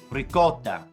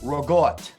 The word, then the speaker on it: ricotta: it was ricotta ricotta some people say ricotta gosh please get it right everybody ricotta all right or some some long islanders say rogot that that's not how you say it all right anyway